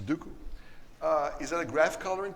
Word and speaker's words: Sudoku: before we're done yeah what'swhat's graph colouring Oh Sudoku Sudoku it's pronounced Sudoku is that a graph coloring problem well generalized